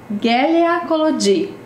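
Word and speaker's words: Helena Kolody: E ainda acrescentou um aviso: pronunciar Gélia Collodi.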